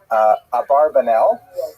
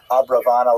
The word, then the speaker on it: Abravanel: Oh, I should mention, by the way, many people pronounce his name Abarbanel, and that's because of the, it's much easier, as Stephen says, it's much easier to rhyme the song to the name Abarbanel, if you know what I'm talking about, right, with Schlock Rock version of Abarbanel, but it's most likely pronounced Abravanel or Abrabanel.